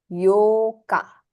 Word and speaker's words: Yoka: Fourth is Yokka, whereas eighth is Yoka.